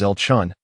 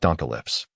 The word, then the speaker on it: Elchun: And by the way, my name is Elchun, not Donalyps. Please pronounce it correctly.